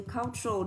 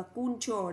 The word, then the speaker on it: cultural: Còn văn hóa chúng ta sử dụng từ cultural, đừng đọc là cultural, đọc là cultural, tr đấy ạ. Hơi đọc nó mạnh, cái giọng của mình hơi gặm nó một chút ạ.